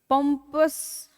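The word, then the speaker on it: pompous: पंपस, पंपस, इसको पंपस बोलते हैं, ठीक है। तो इसका प्रोनाउंसिएशन ऐसा है, सॉरी, ओके, स्वा है इसमें, ठीक है, पंपस।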